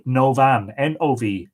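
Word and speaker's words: Odhbha: youtubers Oh bah-bah a and that is pronounced ova ova so era Mon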